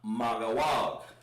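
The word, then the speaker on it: מגוג: And that's pronounced Magawag. Ga. Wag.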